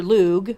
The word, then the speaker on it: Lugh: Lugh is Lugh or Lugh the Long-Handed. His name is pronounced Lugh here in the West, and in Gaelic it's Lugh, like L-U-U or L-O-O.